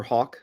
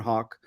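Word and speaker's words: Haugh: Elder Hawk on Reddit spell it out with it like a bird send me a private message you can follow me on Twitter at Hawk uh on Twitter it's h-a-u-g-h not spell like the bird um I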